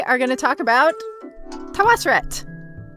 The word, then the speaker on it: Tawosret: But I like Tawosret. Tawosret. So that's what we're doing.